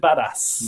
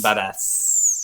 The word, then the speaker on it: Badaz: He pronounces it Badass. Badass. But it's spelled a bit differently.